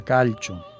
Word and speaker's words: calcio: Esto se escribe calcio igual que que el calcio, que el elemento y bueno, siendo italiano, yo creo que se pronuncia calcho.